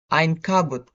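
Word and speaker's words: عنكبوت: For the example, for the initial Ain, we have spider, which is pronounced Ein Kabut.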